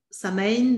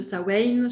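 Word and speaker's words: Samhain: nous avons la fête celtique de samain de sa wayne chacun là va mettre sa prononciation alors pour certains c'est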